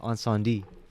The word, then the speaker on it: Incendies: this movie uh the french canadian classic uh on sandy directed by denis villeneuve oh